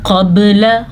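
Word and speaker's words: قَبْلَ: मोटा नहीं पढ़ना इसको यह बारीक काफ और यह मोटा है अब इन दोनों अल्फाज की अदायगी के दौरान आपने सीखना है कि बारीक काफ कैसे अदा किया जाता है और मोटा कफ कैसे अदा किया जाता है कानू कबल कबल फर्क वाज है ना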